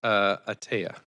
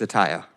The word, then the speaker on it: Ataya: Speaker number 2 is Atea. Please correct me if I've mispronounced your name. It's Ataya. Taya.